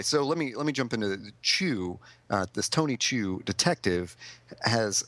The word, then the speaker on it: Chu: And anyway, so let me jump into Chew. This Tony Chew detective has superpowers, which are food related. So you see, it's a pun on his name. He's Chew, CHU, and he chews things.